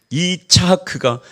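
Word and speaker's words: יצחק: 이삭을이 히브리 발음으로 하면 이차하크입니다. 이차하크가 한자로 갔다가이 한글 음욕으로 하니까 이삭이 된 거예요.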